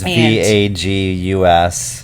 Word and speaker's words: vagus: It's VAGUS. Yes. And has nothing to do with Las Vegas, but it's basically the same pronunciation of Vegas.